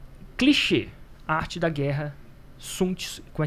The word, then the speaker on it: Sun Tzu: É. Sun Tzu. Sun Tzu é a pronúncia.